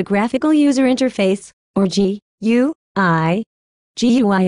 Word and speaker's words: GUI: GUI is pronounced GUI.